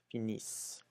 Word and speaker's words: finissent: You still don't pronounce it, but make sure that you emphasize on the is. Finissent.